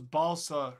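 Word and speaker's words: Balša: with Balsa who knows Balsa rhymes with salsa how many concurrents do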